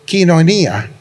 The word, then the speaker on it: Koinonia: Y por si acaso esta palabra tenemos comunión unos con otros, esta palabra coinonía en griego, aunque me han corregido los que hablan griego y dicen que en griego es quinonía, pero no vamos a